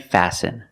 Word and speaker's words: fasten: And fasten. Example, fasten your seatbelt. Fasten is a verb, and the T is silent.